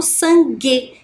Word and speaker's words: sangue: Quando eu faço essa pronúncia, G, eu não escuto a vogal U que está ali, ó, entre o G e a vogal E, né? Eu apenas falo sangue, que vem do som G, né?